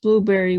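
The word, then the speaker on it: Blubrry: a free trial and that's spelled b-l-u-b-r-r-y it's blueberry without the e's and apparently there's a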